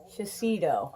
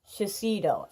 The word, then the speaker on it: Shiseido: So it's Shiseido. Okay, let me have it. Before I forget how to pronounce this, Shiseido.